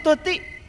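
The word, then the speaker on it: تطع: Wa in tuti', dan jika kamu mengikuti, menuruti, tuti' sanes tuti' itu bahasa Arab. Makanya bahasa Arab itu harus benar mengucapkannya. Kalau tuti nama orang. Tapi ini dibacanya wa in tuti', dan jika kamu menuruti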